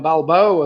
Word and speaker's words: Balboa: his name was balboa and of course that nearly rhymes with samoa so i'll give you that somewhere around balboa as well as after kind of ends the same anyway uh number six was